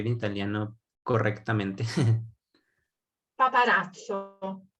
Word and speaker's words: paparazzo: No sé exactamente cómo se pronunciaría en italiano correctamente. paparazzo, paparazzo.